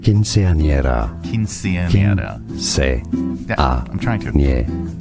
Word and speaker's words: quinceañera: Quinceañera. Quinceañera. I'm trying to. In Spain, the C is pronounced like TH.